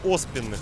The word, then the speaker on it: оспенных: Да, не оспененных, а оспенных надо ударение ставить от слова осп.